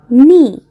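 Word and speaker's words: Knie: বাইন দাস বাইন দাস নি এখানে এখানে কেটা উচ্চারণ হবে না হাটু হচ্ছে দাস নি দাস নি অর্থ অর্থাৎ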